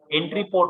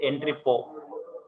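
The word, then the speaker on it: entrepôt: Entry po, we have to pronounce as entry po, but T is going to be silent. You should not pronounce it as entry po. Entry po only. T is silent.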